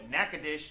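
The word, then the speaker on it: Natchitoches: We now visit all the way down to Nacadesh, Louisiana. It is spelled nacadocious for those people just don't know how to talk.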